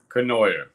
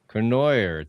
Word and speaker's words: Cournoyer: Cournoyer. Cournoyer.